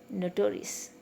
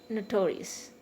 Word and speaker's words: notorious: syllable ious and us notorious no to risk okay it is not years or eos years i don't pronounce it so lengthy notorious so the stress is on the second syllable no taurus tio okay